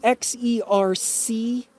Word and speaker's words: Xerces: X-E-R-C-E-S, I think. Xerxes, like King Xerxes there, the Persian.